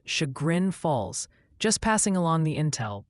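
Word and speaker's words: Chagrin Falls: Multiple viewers are insisting Shagrin Falls is pronounced Shagrin Falls.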